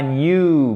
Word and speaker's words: new: Il se prononce comme ou et pas new, mais new, for this new job et pas new job, ok?